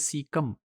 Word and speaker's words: caecum: Well इस module में we will be discussing सीका या ये असल में ये एक सिंगुलर होगा दैट इज सीकम और इसके स्पेलिंग है CAECUM और प्लूरल में जिसे हम सीकी कहेंगे CAECE।